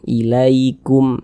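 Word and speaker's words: إليكم: Maka cara membacanya itu dia lunak. Kita baca ilaikum. Jangan sampai condong ke huruf jangan dibaca ilaikum, jangan. Tapi kita lunakkan ilaikum seperti itu.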